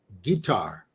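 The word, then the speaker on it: Qatar: to sort out the proper pronunciation of q-a-t-a-r it changes by the minute guitar guitar how it's guitar but we're gonna say we're going to say cutter we're going to say cutter because it's just like we say Van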